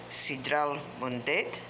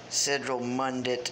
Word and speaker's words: Sidral Mundet: pronounce this Mexican soda it's sea trout one date some people are just saying Central Monday and I knew that was not exactly appropriate way to say the name for this Mexican apple